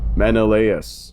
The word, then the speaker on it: Menelaus: time of its destruction, much like his sire, Menelaus.